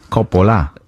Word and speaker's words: Coppola: Yeah, you don't pronounce the H, of course. Coppola. That's all you need.